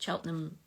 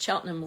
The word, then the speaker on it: Cheltenham: some of your comments is Cheltenham like Gloucester yeah I think it is it's it's sort of scrunched together you don't necessarily pronounce every syllable right um anyway we're